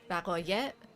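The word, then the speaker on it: وقایع: Vaqoye with a V sound. Can you guys hear me saying V and not W? Vaqoye.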